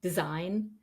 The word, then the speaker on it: design: n gome not then at the end end of a word for example sign campaign design the G is again not pronounced so you can just